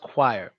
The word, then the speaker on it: choir: word it means choir it's pronounced choir yes like required same thing like require but um that's funny